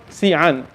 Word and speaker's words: Xi'an: Today it's called Xi'an. It's spelled Z-I-A-N, but in the classic Chinese it